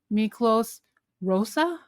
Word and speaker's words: Miklós Rózsa: And then also another Hungarian composer, Miklós Rózsa? Is that how you pronounce it?